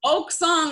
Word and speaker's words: OcSong: OcSong, like an oak tree.